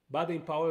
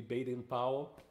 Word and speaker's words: Baden Powell: Baden Powell is the way we say his name in Brazil. Here in the United States would be Baden Powell, the famous name here, right, Pinha?